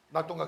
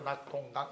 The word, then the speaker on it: 낙동강: 낙동강 써보세요.